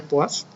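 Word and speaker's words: poise: Bueno, este es el apellido de un científico francés, por eso se pronuncia poids, que bueno, hizo importantes aportaciones en la medición de esta propiedad.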